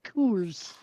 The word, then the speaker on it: Coors: You got to say it right. It's Kors.